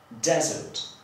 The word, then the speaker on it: desert: A w drugim przypadku mamy do czynienia z rzeczownikiem i będziemy akcentować pierwszą sylabę, desert.